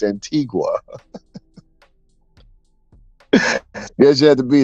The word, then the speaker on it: Antigua: oh he trying to say Antiga said Antiga no it's Antigua guess you had to